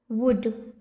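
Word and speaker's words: would: वुड जबक यहां पर डब्लू ओ यू एल डी है तो शायद वुड आना चाहिए ना लेकिन नहीं यहां पर एल क्या है यह भी साइलेंट है तो ये क्या हो जाएगा वुड make the mouse seat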